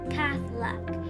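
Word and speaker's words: Kathak: my family is from say it with me past luck it rhymes with unstuck I've been taking dance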